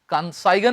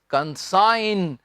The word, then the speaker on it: consign: कंसाइगन नहीं, कंसाइन।